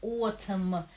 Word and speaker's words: autumn: Autumn, Н не произносится отм.